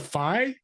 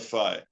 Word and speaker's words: Phi: pronounciation could be P or um f but fi is typical the English pronunciation and I really like this symbol it